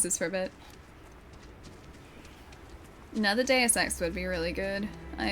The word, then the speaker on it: Deus Ex: Deus Ex. That's how you say it. Deus. And X. Deus Ex.